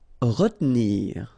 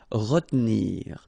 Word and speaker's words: retenir: Okay, so normally in that situation, well, you've got to pronounce this re, okay, but then you don't insist too much on this here, so it goes like retenir, retenir.